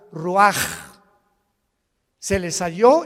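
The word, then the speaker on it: רוּחַ: y exhaló Isaac el rach así como suena se pronuncia la c en hebreo como J ruaj se les hó y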